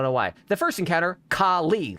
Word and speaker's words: Kali: I feel like I I emphasize the second syllable and I space the syllables out too much and it's been haunting me for 2 years. Why do I care about this? I kind of with it. I just I don't like calling her Callie because it's it feels wrong. So, I tried to like I'm going to I'm going to lean into the esoteric enigmatic way of pronouncing it.